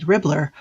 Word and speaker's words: Ribblr: Leah Shelton and her partner created Ribblr, a website and technology platform that combines a